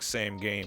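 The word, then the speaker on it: SameGame: It looks like same game, but it's pronounced Same Game.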